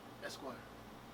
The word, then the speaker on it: Espoir: Espoir.